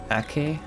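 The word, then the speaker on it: Acre: have one more Target to get to in ak ak it's called AK like R is pronounced as a k for some reason I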